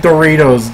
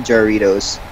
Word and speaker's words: Jarritos: That sounds like a knockoff of Doritos. Doritos. It's even spelled like a fucking Dorito, but with an A. It's Jarritos. Doritos. Yep, Jarritos.